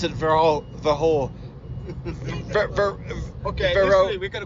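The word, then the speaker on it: Verreaux: It's a French word. Yeah. It should be a French one. So So Verro.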